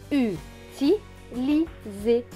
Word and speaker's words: utilisé: Mais là, le S ne va pas se prononcer S, il va se prononcer Z, parce que avant et après, il y a une voyelle. Donc le I et le E. Donc le S va se prononcer Z. S et E, Z. Donc ce mot va se lire U, ti, li, zé.